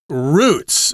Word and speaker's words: route: This could also be pronounced route, which is kind of interesting because I never really decided which pronunciation to use myself.